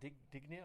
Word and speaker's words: Digne: Then I've got that guy from Everton, Dignia. I don't know. how to pronounce it. Look at Dean. Digne.